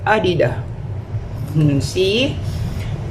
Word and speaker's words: Adidas: aking rubber shoes na Adidas Superstar siya ayan This is from Garnet my daughter Pero sabi nila ang right pronunciation daw is adida see Ito naman yung aking